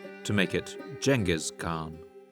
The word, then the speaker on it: Genghis Khan: European scholars would later translate these sources into Latin and eventually into English in the 19th century, at which time the translators used the letter G to denote a soft sound like in general or German.